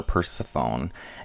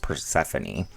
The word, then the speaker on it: Persephone: Her daughter, Persephone, is taken to the underworld by Pluto for 6 months every year.